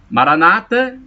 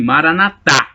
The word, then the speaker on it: maranata: maranata o maranata a maranata com assento na penúltima sílaba com a tônica na penúltima sílaba é dita pelos protestantes essa expressão é dita maranata os católicos dizem maranata assento não é a tônica na última sílaba significa vinde senhor jesus